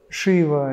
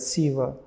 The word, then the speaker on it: Шива: Некоторые говорят Шива, некоторые говорят Сива. И так правильно, если в итоге речь идет о сердце.